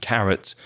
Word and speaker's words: carat: what's the connection of carrot to gemstones okay so we're talking about c a r a t but it's pronounced carrot the same pronunciation as the vegetable but different spelling and this carrot is